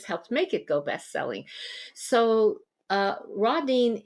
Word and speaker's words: Rodine: I think Rodine.